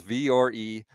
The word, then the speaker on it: Vuori: V or E, pronunciation of Viori equals V or E, Viori or Viori.